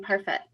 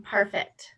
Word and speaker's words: Parfitt: But what I'd like to do first is introduce you to our presenter, Parfitt. I pronounced it incorrectly again, didn't I? It's Parfitt, correct? Yes.